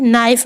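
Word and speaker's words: knife: नाइफ में के silent है।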